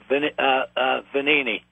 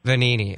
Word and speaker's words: Vagnini: Vagnini. Vagnini. Okay, the G is silent.